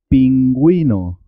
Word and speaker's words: pingüino: suena en este caso cigüeña cigüeña para agüero pingüino cigüeña paragüero pingüino la diéresis es importante conocer la dos puntos